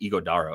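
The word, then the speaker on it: Ighodaro: it's not that hard it's just igodo it's almost like igod dala um so Mason plumbley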